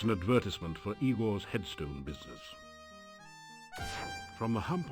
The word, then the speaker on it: Igor: That's Igor's current tombstone masterpiece. He's been having trouble keeping a head of business lately. And also it's pronounced Igor.